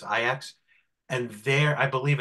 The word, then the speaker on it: Ajax: team that called Ajax it's spelled Ajax but it's ax and their I believe